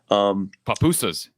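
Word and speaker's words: pupusas: Papusas.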